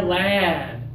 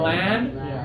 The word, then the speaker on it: land: up touch right here land L yeah and now take those fingers away teeth together l l you guys feel the difference between lend and land yeah masar you're doing